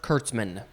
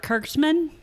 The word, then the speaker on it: Kurtzman: tom savini or robert kurtzman robert kirksman correct you said his name wrong but you are correct